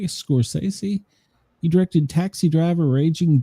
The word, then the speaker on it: Scorsese: Martin Scorsese, say it right, Scorsese.